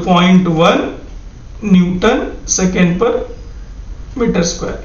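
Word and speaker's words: ν: इसका प्रोनाउंसिएशन क्या है न्यू, ये जो है इट इज the ratio of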